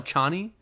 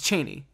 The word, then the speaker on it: Chani: tent with Cheney, which they don't call her Cheney, they call her Chani. It's Cheney. Yeah, in the movie it is pronounced Chani.